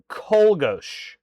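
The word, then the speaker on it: Czolgosz: Kolgosh. When I looked it up earlier, I seem to remember that's how it was pronounced.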